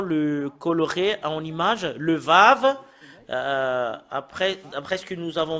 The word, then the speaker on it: ו: Le fait de prononcer ce Vav, avec les choses qui se passent en ce moment, c'est V qu'on le prononce.